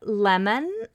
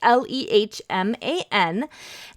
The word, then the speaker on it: Lehman: There are some great books by Barbara Lemon. Oh, Barbara, I don't know how to say her last name, and I'm sorry. It's Lehman. She's got several wordless books that are all a delight.